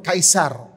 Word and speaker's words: Caesar: Maharaja Augustus kan dipanggil a Caesar ataupun Kaisar. Caesar tu orangorang British panggil kan sebahagian pronunciation dia kaisar. Arab pun panggil kaisar.